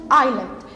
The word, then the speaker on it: island: d but it's pronounced island so the s here is silent so here we have